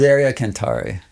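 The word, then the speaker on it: Miseria Cantare: I'm just saying I've been saying Miseria Canerie. Miser. Miseria. Cani for 23 years. Miseria Canari.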